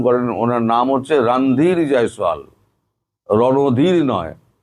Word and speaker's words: রণধীর: ভারত বলেছে রণদীর জয়সোয়াল আপনারা ভুল উচ্চারণ করেন। ওনার নাম হচ্ছে রানধীর জয়সোয়াল।